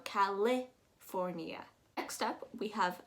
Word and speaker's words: California: eye a little bit some people say california you're actually going to make it very soft you're going to go that i h kind of sound so it's going to go california next up we have